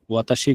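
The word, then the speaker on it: は: আমরা হাটা ব্যবহার করব, তখন হাটা উচ্চারণটা হা হবে না। হা এর উচ্চারণ হবে যে ওয়া এর মতো।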